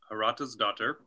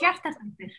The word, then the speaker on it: Hjartadóttir: It's Hjartadóttir. Those two things don't sound anything alike. it's a long one. It's a long one, and it starts with HJ.